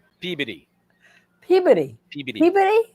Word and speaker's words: Peabody: P E A B O D Y. P E A B O D Y. Peabody. Wrong. Peodyy. Peodyy. Peodyy. Puberty. Almost like puberty, but pee.